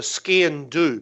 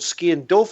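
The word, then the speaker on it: sgian-dubh: It's called a scian dhu, but not in Scotland it's called scian dhu. In Ireland it's called scian dulf, and it's spelt the same way, and it means black blade.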